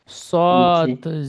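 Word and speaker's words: صاد: হ্যাঁ হ্যাঁ এই অক্ষরটি মুখ গোল করে উচ্চারণ করবেন সদ জের সিদ জজের সি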